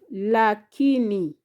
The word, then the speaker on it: lakini: Then you have lakini. Lakini. Lakini has syllable La, Ki, Ni.